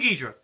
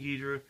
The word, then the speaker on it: Ghidorah: So, King Gedra, King Adora, however you want to pronounce it. I like saying King Gedra.